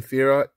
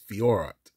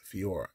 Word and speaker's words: Fiorot: We got a Manon Fiorot, flyweight, the red prism here of UFC. I said it wrong, didn't I? It's Fiorot. That's how you say her name. Fiorot.